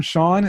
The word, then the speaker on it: Sean: Sean is spelled the proper Irish way, S-E-A-N, just like Connery, Nice.